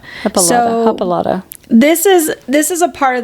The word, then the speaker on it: Hippolyta: If you guys can't tell, we're having a tough time saying it because the words the letters do not match it phonetically. Yeah, it's hippo. Hippolyta. Hippolyta.